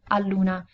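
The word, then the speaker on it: all'una: 1' at 1:00 and the reason why we don't say is because in that case we would have a followed immediately by U and the two vowels together are a bit tricky to pronounce so is more difficult to say so what we do is we remove the final a here from Allah and we replace with an apostrophe so Aluna is much easier to pronounce we also have two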